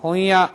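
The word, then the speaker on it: 本屋: 혼야, 응발음 나죠?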